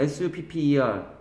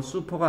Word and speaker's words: supper: supper 발음 쓰세요. 슈퍼가 아니야. supper 쓰세요.